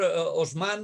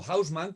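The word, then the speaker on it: Haussmann: 19 por el señor osman o hausmann como ustedes quieren llamarlos y lo pronuncian en alemán no lo producen en francés y a partir de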